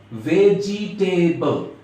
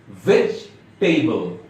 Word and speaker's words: vegetable: ভেজিটেবল। এটা ভুল উচ্চারণ। সঠিক উচ্চারণ হবে ভেজিটেবল। দ্যাট মিন্স ভেজিটেবলের জিতে যে ইটা আছে, আই মিন জি এর পরে যে ইটা আছে, এই ইটা সাইলেন্ট থাকবে।